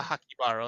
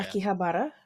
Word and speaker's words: Akihabara: You know, I think it's like a Hakibara or something like that. Something like that. I butchered that name so bad. But yeah, Akihabara. yeah, Akihabara. Yeah, that's it.